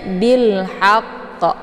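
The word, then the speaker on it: بِالْحَقِّ: huruf qamariah yaitu ha cara bacanya Alif lamnya dibunyikan secara jelas atau Alif lamnya tetap dibaca sukun ya Bil ya kata lain juga disebut dengan izhar qamariah Jadi dibacanya bilhaqqo ya Nah kemudian di sini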